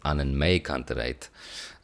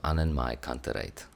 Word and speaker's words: AnnenMayKantereit: stands for anerate So, usually I was saying an mayerate, but the May is actually pronounced my in German apparently. So, so Anen Kerate is the the the name of this artist and K I Z.